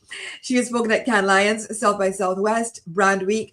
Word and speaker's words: Cannes Lions: I always want to say Cannes Leon. Pronounce it fully in French. She has spoken at Cannes Lions, South by Southwest, Brand